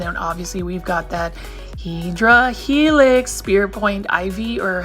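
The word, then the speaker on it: Hedera helix: absolutely stunning and then obviously we've got that hedra Helix spear Point Ivy or hadera Helix is how you pronounce it but I like calling it hedra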